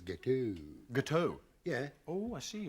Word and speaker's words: gâteau: Chocolate gatooks. I'm sorry. I mean, I don't mean to make you look like an idiot or anything, but I think you'll find it's gâteau.